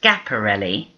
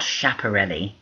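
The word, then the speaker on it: Schiaparelli: the decade this smiling lady is scaparelli Elsa scaparelli and please note her name is pronounced scaparelli not chaparell she was Italian and she designed things like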